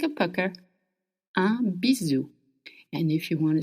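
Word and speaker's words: bisou: Now, if you want to send someone a little kiss, a bizu, a bizu, it's spelled b i s o u. And s between two vowels in French makes the sound z.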